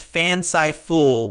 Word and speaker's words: fanciful: fanciful is an adjective it is pronounced fanai fool with the stress on the first syllable meaning fanciful describes something